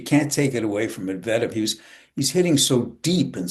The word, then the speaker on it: Medvedev: Well, um, Medvedev played unbelievable against Alcaraz, but Medvedev, Alcaraz, yeah, Medvedev, that's how you say it.